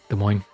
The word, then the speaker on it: Des Moines: Yeah, you only really see the bots in Des Moines. Des Moines, you don't pronounce last S.